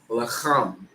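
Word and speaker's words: לחם: And bread in the Hebrew is pronounced lacham.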